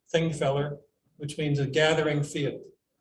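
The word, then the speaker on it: Þingvellir: feller field and that that symbol is pronounced like a th thing feller which means a gathering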